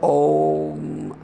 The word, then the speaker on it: Om: These two vowels are together. A, U. Therefore O, Om, Om, like that.